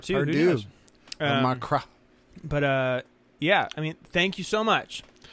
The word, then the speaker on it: Macron: Macron. Macron. That's how you say it.